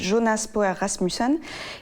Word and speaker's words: Jonas Poher Rasmussen: Je vais vous parler de Flea, qui est un documentaire d'animation danois, en partie danois de, je vais le prononcer à la française, Jonas Poher Rasmussen, qui est un peu dans la même veine que Valse avec Bachir, d'Harry Folman.